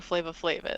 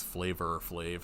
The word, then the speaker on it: Flavor Flav: I do at least know who Flava Flav is, so. Well, not enough because it's Flavor Flav.